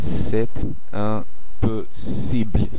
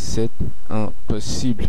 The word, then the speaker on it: c'est impossible: শেষের কয়েকটি কনসোনেন্ট একসাথে উচ্চারণ হবে সেট পসিবল, কারণ শেষের কনসোনেন্টটি একটি ভাওয়েল এবং শেষের কনসোনেন্টটি আসলে উচ্চারিত হচ্ছে না, তাই এস ই বে এল এই কয়েকটি কনসোনেন্ট একসাথে উচ্চারিত হবে।